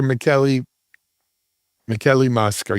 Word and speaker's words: Michele Mosca: Michele Mosca, yes?